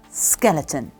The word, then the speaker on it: skeleton: very good and Es skeleton yes that's it skeleton now the second part of the pronunciation was the sh sound in words like